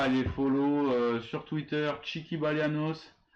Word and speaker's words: Tchiki Balianos: N'hésitez pas à aller follow sur Twitter Chiki Balianos, TCHIKI Balianos comme ça s'écrit et comme ça se prononce, pardon.